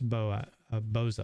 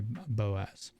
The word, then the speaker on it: Boza: Logan Hart, Sethicus Boza. I always want to say Boaz.